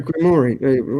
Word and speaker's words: Grimoire: Grimoire.